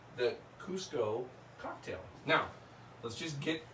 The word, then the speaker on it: Cusco: c z Co Kuzco and some people still pronounce it kzco uh it is now spelled c c and it's Cusco now why now by the way this this